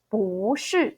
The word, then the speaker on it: 不是: character is fourth tone, we don't pronounce our 不 as a fourth tone as it is shown. You actually need to pronounce it second tone. So it will be 不是 second, fourth.